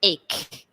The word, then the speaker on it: ache: case so just remember so it's a and E it almost makes that a ke sound ache okay ache so an